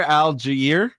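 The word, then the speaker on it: Allgeier: uh the Philadelphia I always pronounce this guy's name wrong Tyler alier is that correct oh you were so close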